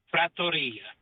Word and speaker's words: trattoria: to correct you on how to properly say trattoria, not trattoria. My family, we lived in Italy for about 7 years, so I definitely know how to pronounce that word. Just to let you know, it's trattoria. Trattoria Pasquale.